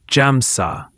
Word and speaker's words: Hamsa: I have often taught the use of the mantra Hamsa, pronounced Jamsa.